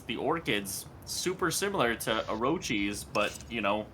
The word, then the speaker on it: Orochis: How do you pronounce that? Jesus, Yeah, all these Orochis. names. It's Orochis.